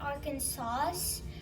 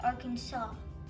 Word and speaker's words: Arkansas: Some people say Arkansas when it's actually pronounced Arkansas with a saw in the end.